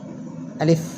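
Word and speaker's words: ألف: যেরকম প্রথম হরফ আলিফ। আমার সাথে আবার বলেন। আলিফ। আবার বলেন। আলিফ। একটু আওয়াজ করে বলেন। আলিফ। আলিফ। আলিফ। আলিফ। নিচের টুটের পেটের মধ্যে লাগাবেন শেষের দিকে আলিফ উচ্চারণ একটু তাড়াতাড়ি হবে আলিফ আলিফ তারপরে দ্বিতীয়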